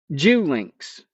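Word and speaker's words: Geulincx: It came out Jew links which he had been informed was the locally correct pronunciation. He suspected that like many other famous and semi famous people, the Julinks clan had programmed obstacles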